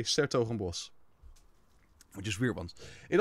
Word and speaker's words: 's-Hertogenbosch: We put an apostrophe S instead of des before the word. And then we don't even pronounce the DE. So it's actually Des Hertogenbosch, but we say 's-Hertogenbosch.